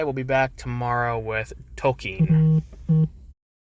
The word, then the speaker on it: Tolkien: Tolkien is apparently how you actually pronounce it, which is not how anyone I've